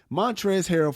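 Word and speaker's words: Montrezl Harrell: say this name man montrez harold yep montrez harold for some reason mantres is spelled with l because you know how do it montres with a l at the end called luca a bitch-ass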